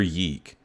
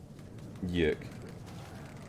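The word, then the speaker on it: YIIK: Okay, first of all, is it Yik or Yeek? Did TTS pronounce it correctly? Yik. It's like Y2K.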